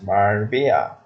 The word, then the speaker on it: Marbella: It's actually pronounced as Marbella.